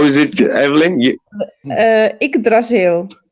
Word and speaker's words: Yggdrasil: I don't know how to pronounce this. How is it, Evelyn? Yggdrasil. Yggdrasil.